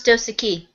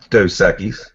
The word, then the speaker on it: Dos Equis: Now, how do you pronounce Dosaki? Dos Equis. Sounds like a southern thing. You say Dos Equis.